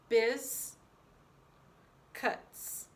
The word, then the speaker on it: biscuits: Biz, cuts. First syllable is biz. Next syllable. Now, when we write biscuits, we're writing the UI, and the CU gets underlined because it says a k sound.